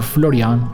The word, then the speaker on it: Florian: The most famous example of these places is still open today in Venice, and it's Café Florian, or Florian as we would pronounce it here.